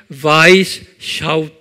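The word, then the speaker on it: Weishaupt: 이 그룹을 만든 분이 아담, 이게 독일 이름이기 때문에 W는 V 발음하죠. 그래서 아담 와이스샤우프트 그래요.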